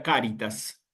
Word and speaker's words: caritas: Por ejemplo, en la palabra caritas. ¿Sí? ¿Eh? ¿Para qué? Bueno, justamente para que nosotros acentuemos en la primera sílaba.